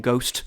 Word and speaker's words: ghost: Come on, we don't need the H in ghost. We really don't. It's never been pronounced.